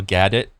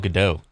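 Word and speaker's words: Gadot: Kang's hanlu and gal gadit Jazelle yashar as the crew that's a way to say her last name I mean gal gadit I thought it was gal gadoo oh my God this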